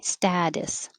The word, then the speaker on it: status: 42 studies studies 43 status the t changes to a d status 44 back bay the